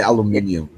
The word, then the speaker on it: aluminium: not natural aluminium batteries I don't say alum I say aluminium it doesn't require you